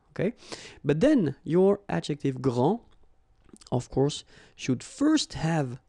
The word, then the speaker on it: grand: you don't pronounce the final D, you don't, the D here, and you don't pronounce the final S. Okay, so grand, and then same thing here, grand.